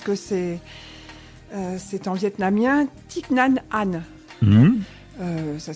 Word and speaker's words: Thích Nhất Hạnh: l'écorché pas ce que c'est c'est en vietnamien thich nhat hanh ça s'écrit thich nhat hanh pour ceux qui le